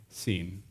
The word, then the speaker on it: Sin: I think think it's the son god scene spelled like sin s i n so